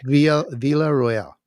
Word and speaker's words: Villarroel: VA Royale is how you say it by the way. Okay. Villa Royale.